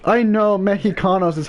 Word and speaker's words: mexicanos: X is pronounced like depending on the word it's used in can be pronounced like a J just like with like